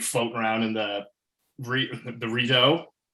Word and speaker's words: Rideau: I was like floating around in the Rideau. How do you pronounce it? Rideau? Is that right? Yeah, it was floating around